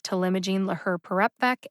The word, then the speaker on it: talimogene laherparepvec: all right that ends my discussion of the pronunciation forum logic otherwise known as telemagine laher parepbeck and t vec i'd like to take just